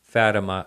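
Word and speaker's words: Fátima: is uh Google 1917 fattima it's spelled just the way it sounds f a t i m a uh sighting or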